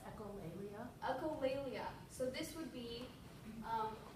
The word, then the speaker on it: echolalia: I didn't even look up the pronunciation of this word. Do you have a? Yeah, it's echolalia.